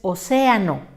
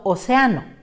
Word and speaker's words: océano: La correcta pronunciación es océano y no océano.